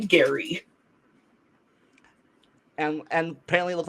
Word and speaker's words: Gerry: Actually, gerrymandering named after a person who pronounced his name Gary.